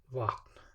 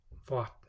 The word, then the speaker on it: vatn: And the V is somewhere between the English V and W. Vatn, vatn, vatn.